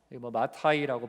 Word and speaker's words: 마태: 마타이라고 발음되기도 하고, 구약에 보면 마따냐라고 있어요.